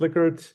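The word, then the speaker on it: Likert: Uh liquor scales pronounced liquor.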